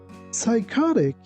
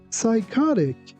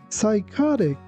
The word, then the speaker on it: psychotic: Here again, you have to be careful not to pronounce letter P.